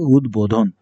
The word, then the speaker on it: উদ্বোধন: যুক্ত হলে, বিশেষ করে সংস্কৃত কিছু শব্দ রয়েছে ব ফলা যুক্ত হলে সেখানে ব ফলা নিজেই উচ্চারিত হয়। যেমন উদ্বোধন, হ্যাঁ? উদ্বোধন এটার উচ্চারণ হবে না, এটার উচ্চারণ হবে উদ্বোধন।